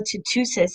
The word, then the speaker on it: Tootoosis: And then when I started to look into Tala Tootoosis, is that how you say it?